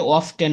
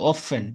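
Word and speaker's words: often: এটা অফটেটন না আমরা অনেকে এটা ভুল উচ্চারণ করে থাকি এটা অফটেটন না এটা হল অফেন টিয়ার উচ্চারণটা আসবে না হবে না অফেন অফেন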